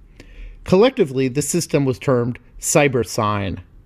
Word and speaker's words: Cybersyn: the system was termed cyber sign or perhaps more accurately should be pronounced cyber sin as it stood for cybernetic synthesis in this case the